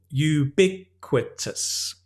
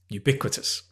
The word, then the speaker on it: ubiquitous: mobile phones are ubiquitous notice the pronunciation again it's the second syllable ubiquitous ubiquitous mosquitoes are ubiquitous in